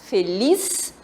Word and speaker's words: feliz: E a palavra feliz, feliz, a sílaba forte é lis.